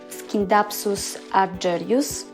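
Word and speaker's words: Scindapsus argyraeus: Po angielsku nazwę wymawia się Scindapsus argyreus, ale będę mówiła na tę roślinę Scindapsus.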